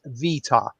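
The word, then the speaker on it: βήτα: She pronounced it Vita.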